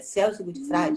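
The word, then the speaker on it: Celso Gutfreind: já li alguma coisa dele, que é o Celso Gutfrage, pronuncia assim, é Celso Gutfrage, já ouviu falar?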